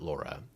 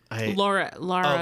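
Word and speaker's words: Lara: It's pronounced Laura, not Laura.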